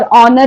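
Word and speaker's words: honour: one thanks for ऑनर पहले समझ लो ऑनर ऑनर अभी एच है है कि नहीं लेकिन हम लोग को कैसे बोलना है ऑनर वाई बिकॉज एच इ साइलेंट ओके ऑनेस्ट ऑनेस्ट यानी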